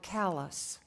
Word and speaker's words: Calais: miles from Calais main callus is pronounced hard like Calais even in summer the